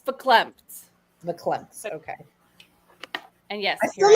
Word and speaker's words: verklempt: Verklempt.